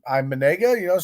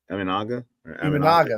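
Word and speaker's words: Imanaga: And they picked up, I don't know how they pronounce the Asian guy's name. I'm Manega, say his name? Aminaga.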